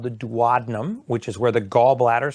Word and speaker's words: duodenum: Yeah, and actually a few years ago they found a polyp in my how do you pronounce it? Duodenum? Duodenum, yeah, duodenum.